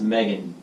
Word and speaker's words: Megan: Meg Hand, pronounced Megan, and it's not spelled Meg Hand either.